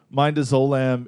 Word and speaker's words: midazolam: But coma is induced by another separate drug called midazolam. I'm butchering pronunciation.